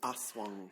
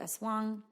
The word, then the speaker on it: aswang: An aswang. An aswang. Mm-hmm. It's spelled in various ways.